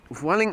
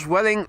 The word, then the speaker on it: Vueling: Optimus says, I like to pronounce Vueling to rhyme with fueling.